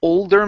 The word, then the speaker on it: older: to the word old older make sure to pronounce that L if not you're saying they they are stinky kids they're not stinky kids but they're older in age old older older there